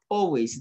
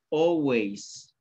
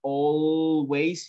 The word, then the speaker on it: always: to my work okay always the pronunciation the pronunciation of this word is always always okay you do not you do not pronounce the letter l so you don't say always you say always repeat always repeat always